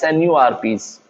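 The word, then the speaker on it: snRNPs: rna enzymes called smaller nuclear ribonucleoproteins or rnps pronounced as snu rps the cap and the polyethel on the mrna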